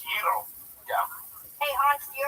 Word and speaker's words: gyro: And it's pronounced Euro.